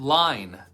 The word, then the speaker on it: line: Is N, and that silent E, like we talked about at the very end, jumps over the N to make the I say its name.